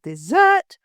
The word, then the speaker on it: dessert: found in the desert if you add an S and also push the intonation to the second e you have the word dessert which is a sweet